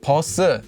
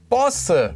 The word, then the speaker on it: 버스: But you don't say 버스. It's actually pronounced as 버스 with the double piup here.